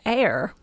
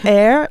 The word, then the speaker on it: Aer: It is spelled A-E-R for listeners. Just a little bit of funky, but yeah, it is pronounced air.